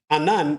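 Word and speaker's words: אנן: Now, in Hebrew, there is another phonetically similar sounding word to the Hebrew word for cloud, anan, which is anan.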